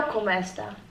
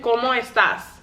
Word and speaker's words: ¿Cómo estás?: I know como esta. But you need to say it like a question. ¿Cómo estás?